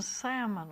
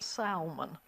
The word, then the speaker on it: salmon: Dry eyes develops from a deficiency of an essential fatty acid which is found in abundance in salmon oil. Now, when I was a kid, we pronounced that salmon, but the correct thing nowadays is salmon, S-A-L-M-O-N.